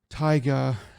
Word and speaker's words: Taiga: Um, and it's about a girl named Taiga and a boy named Ryuji, and so basically Taiga, the name sounds like the word tiger, and that's basically what they call her, the palm top tiger.